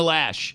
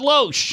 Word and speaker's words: Loesch: still to this day still can't pronounce Dana lash it's not Loesch and she's not the